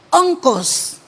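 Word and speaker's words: ὄγκος: Oncos con acento en o.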